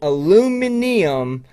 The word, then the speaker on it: aluminium: at ridiculing me earlier i will moving forward pronounce it aluminium for aluminium it just rolls off the tongue